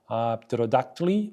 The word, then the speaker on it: pterodactyl: In words like pterodactyly or ptontely, English speakers normally do not pronounce the P because PET is not a sound combination that can occur at the beginning of English words.